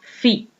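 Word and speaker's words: φ: lo caracteriza mos con esta letra griega que se pronuncia fi vale pues entonces lo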